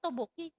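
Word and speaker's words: tteokbokki: Topoki. Topoki. Ya. Bacanya toboki.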